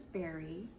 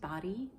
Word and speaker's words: Bari: read so I read princess Berry which I found out is actually pronounced body I read this with